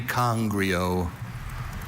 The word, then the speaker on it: congrio: Are there any alternate pronunciations? Only congrio.